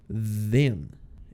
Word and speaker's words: then: então fomos PR casa perceba só a pronúncia desse th do then é aquela com som de z não com som de s o som de abelha né then and then quando eu